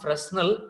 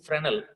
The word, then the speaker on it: Fresnel: And remember, it is not Fresnel, S is silent, it is Fresnel, S is silent, Amma.